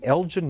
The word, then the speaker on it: Elgin: And the Elgin Marbles, Should They Be Returned to Greece? What is this very quickly about? It's actually Elgin, it's a hard G.